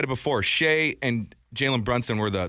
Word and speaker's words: Shai: a lot of Ines let's start calling him Shay okay am I say call him shy you are calling him shy that' be the third time you called him shy right there you